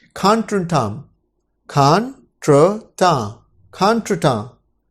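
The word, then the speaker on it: contretemps: वैसे स्पेलिंग के हिसाब से अगर पढ़ा जाए तो होगा कॉन्ट्रीटेम्प्स, कॉन्ट्रीटेम्प्स, पर ये फ्रेंच का शब्द है तो इसकी जो प्रोनाउंसिएशन है वो थोड़ी डिफरेंट है। खान ट्रीटा, खान ट्रीटा।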